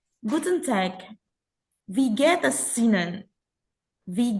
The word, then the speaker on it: Guten Tag: Vivit nanya, ini bacanya Guten Tag. Salah, bacanya itu Guten Tag.